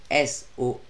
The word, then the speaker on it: solfeggio: Donc tu peux aussi chercher via ce nom-là, musique solfeggio, fréquence solfeggio, ça s'écrit S-O-L-F-E-G-G-I-O, comme solfège, mais solfeggio.